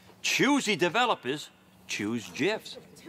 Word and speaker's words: GIF: on gifs pardon me yeah Jess you say gifts it's an acronym acronyms pronunciation is determined by the creator of the